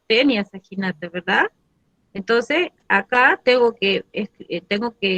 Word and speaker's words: Taenia saginata: Yo no voy a pronunciar Taenia Saginata, yo pronuncio Tenia Saginata, ¿verdad?